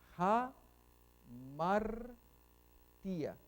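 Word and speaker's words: ἁμαρτία: Ok, va a la izquierda, entonces suena como A, pero cuando va hacia la derecha, como acá, suena como J, o suena ja. Entonces, ja, martía.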